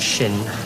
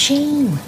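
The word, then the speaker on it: Sian: What, Shin? It's pronounced Sheen. God, how many times? All right. This Sheen, she's not going to be hanging about, is she?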